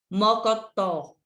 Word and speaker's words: mocotó: Mocotó. É o tó. Não é isso? Mocotó. O tó é a última que você pronuncia com mais intensidade.